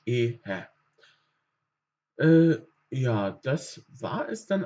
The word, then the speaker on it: Ehe: Haben wir wieder praktisch mit den Silben zu tun, dass dieses E lang ausgesprochen wird, aber das H ein bisschen anders. Also das ist ein spezifisches Wort. Dort sagen wir praktisch Ehe.